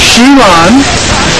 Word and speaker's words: Xi Lan: out of 45,000 votes around the world it's pronounced sheilon and and sheilon is it's also significant too